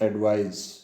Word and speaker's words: advise: ADVISE ये है, इसका प्रोनाउंसिएशन एडवाइज।